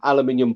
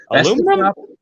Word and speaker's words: aluminum: Aluminum. That's the proper way to say it, there, Dustin. Aluminum. Aluminium. Listen, we pronounce it the way it doesn't look, okay? We like silent letters and dumbass spelling.